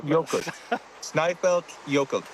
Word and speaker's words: Snæfellsjökull: that back, because I was hoping that you'd pronounce it. Snæfellsjökull, is that right? We've lost the place name now. Snæfellsjökull.